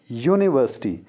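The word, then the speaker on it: university: अगर आप गौर करें यूनिवर्सिटी वर्ड हालांकि शुरू यू से होता है जो कि एक वाल है बट इसकी साउंड को आप ध्यान से सुनने हाय studied in dash यूनिवर्सिटी यूनिवर्सिटीज की शुरुआत होती है यह से किसी वलसाड से नहीं होती आ वहीं कोई आवाज नहीं है यह की आवाज है इसलिए यहां पर भी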